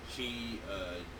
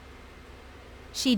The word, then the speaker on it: Xi: President Xi, I'm sorry, I don't wanna be canceled.